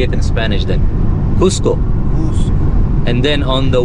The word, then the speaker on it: Cusco: Is that how you pronounce Cusco or Casco? No, Cusco.